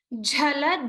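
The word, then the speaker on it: झल: Padam, jhala, jhalan, chalita. Here, remember to pronounce the Mahaprana, or a forceful expulsion of air of the jha sound.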